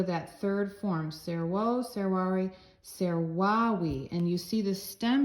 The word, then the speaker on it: servavi: third form, servo, servare, servavi, and you see the stem here, servau. You know that V, the V's sound like W's. So servau. The V's sound like W's in classical pronunciation, which is what we use.